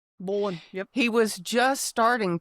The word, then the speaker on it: Bolan: Chrome Satar Mark Bolan, is that how you pronounce it? Bolan Bolan.